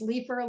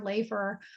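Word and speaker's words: Leiffer: is spelled l-e-i-f-f-e-r that can be pronounced three different ways leave her life or lay for that's not a good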